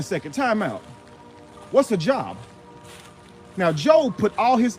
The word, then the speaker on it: Job: Job, J-O-B. What else does that spell? Job. But Job, job, same three letters, but different pronunciations.